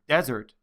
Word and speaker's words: desert: The next word in this word study is desert. Notice that the first three letters of the word desert are bold. That's because the stress is on the first syllable.